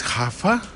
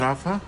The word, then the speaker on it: Rafa: Oh, it's Hafa. It's not Rafa. Yeah, you've been pronouncing it incorrectly all this time.